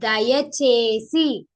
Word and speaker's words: దయచేసి: see how my mouth is moving so that you'll get the proper pronunciation of Dayachesi.